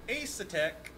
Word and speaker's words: Asetek: The secret word is Asetek. Asetek. How do you spell that?